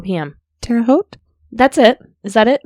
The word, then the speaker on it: Terre Haute: his mother's ceramics store in, I'm going to mispronounce this town, probably Terre Haute, Indiana, around 4 p.m. Terre Haute?